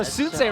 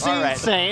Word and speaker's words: Soonsay: You know, Soonsay rhymes with Tuesday. Hbox. Jesus Christ. It's Soonsay, isn't it?